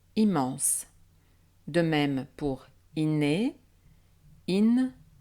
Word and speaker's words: immense: confirme toujours la règle une voyelle devant une double consonne mm ou n n n'est pas nasale exemple immense dont les syllabes son hymne man se est se prononce ainsi immense de même pour inné